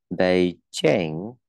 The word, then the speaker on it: Beijing: Beijing, ok, Bay, đó là Bay, A, Beijing, Jane, Jane, ok, đọc âm y ngắn này, mình đọc thành âm e nhá, âm e nhá.